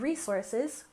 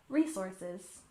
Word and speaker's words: resources: second syllable renewable renewable and resources we stress the first syllable resources resources altogether renewable resources